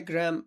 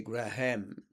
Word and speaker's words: Graham: Why Graham? I don't know. I I I I say Graham with stress on the second part of the word. Graham. Graham. Then take the a off.